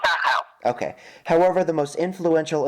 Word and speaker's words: Dachau: I don't know how to pronounce it. I don't speak German, so... No, I know. It's called Dachau.